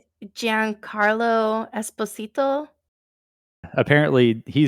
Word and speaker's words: Esposito: Esposito for everybody else yes it should be Esposito that's how you say it but no the him